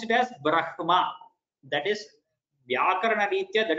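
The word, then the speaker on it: ब्रह्म: Only when this Ha comes along with either Ma or Na, then the Ha is pronounced in full and the Ma or Na are pronounced in half.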